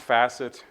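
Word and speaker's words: fassets: acronym for feature assets okay so yeah it's pronounced facet and it's kind of loosely related to that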